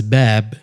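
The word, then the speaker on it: باب: Yeah, so if I say the word door in Arabic means bab. Bab, that's ba, alif, ba. Yeah. Ba, this elongation of fatha to alif.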